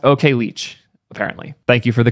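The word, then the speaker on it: OKLCH: want to talk about here but okay it's pronounced okay leech apparently thank you for the corrections chat this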